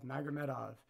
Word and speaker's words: Magomedov: Magomedov.